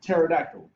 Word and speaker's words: pterodactyl: the P is silent, like in pterodactyl. I don't know if y'all even know that there's a P in pterodactyl, but asymptote, right?